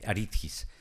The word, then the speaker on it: Aridjis: y él me decía Aritgis. Luego él me está diciendo Aritris, Aritgis, pero ustedes no se compliquen, pronúncielo como se escribe, Aritgis.